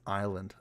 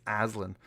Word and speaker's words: Aslan: I had a teacher once pronounce my name as Island. Oh, God. It's Aslan. Island.